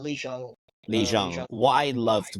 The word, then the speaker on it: Lee Jung: But what I did really like about that scene was how is it Lee Young? We're pronouncing his name. Lee Jung.